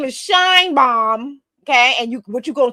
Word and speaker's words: Sheinbaum: But yes, her name is Sheinbaum, because to me it's obvious once I say her name. Her name is Sheinbaum.